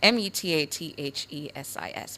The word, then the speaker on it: metathesis: Your word of the day is spelled METATHESIS, METATHESIS.